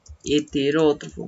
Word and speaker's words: heterótrofo: Entonces sería heterótrofo. Muy bien. Heterótrofo. Los acentos, la ortografía siempre es importante cuidar, ¿no? Heterótrofo empieza con H. Tiene acento en la O.